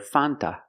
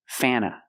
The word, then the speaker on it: Fanta: In America, we do not pronounce the word Fanta. It is pronounced Fana. Fana. Use the short A sound. Before the N, it changes a little bit. It becomes a little more nasal in your nose.